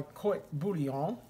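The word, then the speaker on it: court-bouillon: on my court bouillon let me say it correctly my court booty on i did that in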